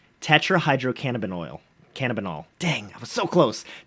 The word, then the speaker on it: tetrahydrocannabinol: that is or might kind of sound like tetrahydrocannabinol cannabinoid dang so close tetrahydrocannabinol there we go got it so CBD is